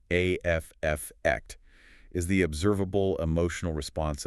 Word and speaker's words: affect: In psychology, effect, and it's often pronounced with the stress on the first syllable, afct is the observable emotional response of a person, their facial expression, their demeanor.